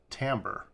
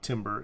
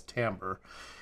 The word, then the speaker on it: timbre: you what I found out timber is actually pronounced Tambor so that's the first thing I'm not pronouncing it right it's not timber it's Tambor even though it is spelled t IM bre